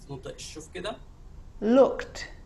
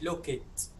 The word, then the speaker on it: looked: Looked. مش look it.